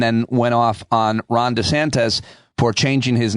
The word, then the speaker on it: DeSantis: went off on Ron DeSantis for changing his name, at least how he pronounces his name, from DeSantis to DeSantis.